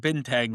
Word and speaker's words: Bintang: it's actually when I wrote the book, I said Bintang like you do. Apparently, the correct pronounce is Bintang.